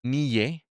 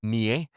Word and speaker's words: Nye: A ver, el poder blando, poder suave o soft power fue un término que acuñó Joseph Nye, o mejor dicho, Nye. Se escribe Nye, y voy a dejar un enlace a su perfil de Wikipedia para que lo puedas leer más adelante.